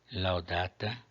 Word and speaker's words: laudata: Laudata, a penúltima é longa, acento na penúltima.